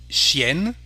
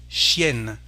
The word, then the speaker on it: chienne: Here we have the sound N, chienne, the female name for dog, we say, donc chienne.